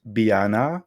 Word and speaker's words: Beanne: name oh um so it's meant to be pronounced Biana but be nice final you can be most